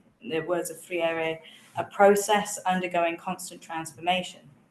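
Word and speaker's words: Freire: So, to develop this concept of power, I I turn to I'm going to say frier. My Brazilian friends say I keep saying it wrong, but I'm a friend.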